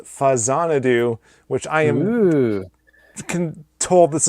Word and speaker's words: Faxanadu: And it's a Famicom version of Xanadu, so it's Fazanadu and not Faxanadu.